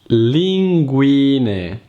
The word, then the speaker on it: linguine: When a word ends with the vowel E, which in Italian is E, you have to pronounce it like it's written. And don't pronounce it like an Italian I.